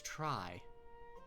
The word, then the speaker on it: Tri: me my name's try could it perhaps be pronounced tree no it's try like like Triforce you know that's it's